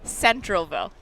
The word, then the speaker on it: Centralville: before okay he said you said it wrong last year so centralville hahaha oh Central oh there's